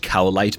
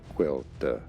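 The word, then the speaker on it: Caoilte: We've also got this guy's name is not pronounced cowite, by the way. It's an Irish name, so the pronunciation's kind of crazy. Irish pronunciation, Quelter. Quelter Quelter the Arrow.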